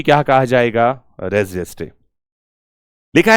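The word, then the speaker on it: res gestae: कुछ लोग इसको रेस गेस्टे भी बोल देते हैं। लैटिन प्रोनन्सिएशन इसका एक्चुअल में क्या है देख लेना आप यहां पर में। अदरवाइज ये रेजेस्टे है और इसे कहा जाता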